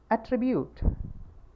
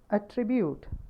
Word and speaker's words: attribute: will become a verb the third example is attribute if it is the stress is forming on the first syllable then it will become attribute if it is on the second syllable please go through the phonetic transcription again attribute attribute not attribute now it's become attribute